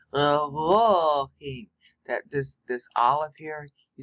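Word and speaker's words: אלהים: But you pronounce this as if it were 3 syllables. Elohim.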